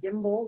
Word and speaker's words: Gimbel: And my last name is Gimbel, like the department store that went out of business, GIMBEL.